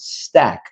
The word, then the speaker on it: STAC: back in the days was called Stack, and that's spelled STAC.